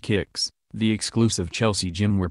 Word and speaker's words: KX: in and out of k-x pronounced kicks the exclusive Chelsea gym